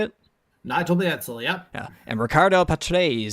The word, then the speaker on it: Mansell: Nigel Mansell, yep.